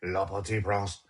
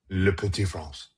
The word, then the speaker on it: Le Petit Prince: Do you think that me saying Le Petit Prince will get me credit on Duolingo today for doing my French exercise? No, because you're saying it wrong. It's Le Petit Prince.